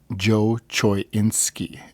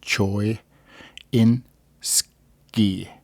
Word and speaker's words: Choynski: uh revolves around Joy Joe choinski is how you pronounce it Choy insi and uh his uh